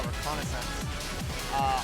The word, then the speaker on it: reconnaissance: lot of uh reconnaissance I said that word earlier and I said it wrong so I'm saying it right now reconnaissance on each other I'm